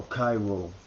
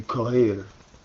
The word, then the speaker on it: Cairo: Remember I told you how Cairo is a mispronunciation. The capital of Egypt should be Kohir, which means Mars, or